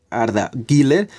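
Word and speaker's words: Arda Güler: hoy porque sabemos que arda gilller es así como se pronuncia ha vuelto los entrenamientos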